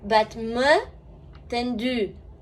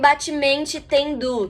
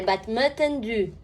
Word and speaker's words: battement tendu: Quando a gente tem uma palavra em francês acabando em U, esse U geralmente tem esse som de U, que é um som entre I e U.